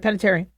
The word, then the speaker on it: Panettiere: So Hayden Panettiere, how about I pronounce it right? Panettiere.